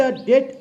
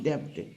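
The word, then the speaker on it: debt: नाउ 13, टू पे द डेट of nature. This is नॉट डेब्ट, pronunciation is डेट.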